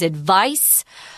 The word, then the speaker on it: advice: this it's very important the verb is advised with a Z sound and the noun is advice and it is an S sound but it's spelled with a C adv I see II